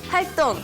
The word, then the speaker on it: 활동: It's spelled 동, but it's actually 똥, like when you go to the bathroom. 똥, okay? 활동.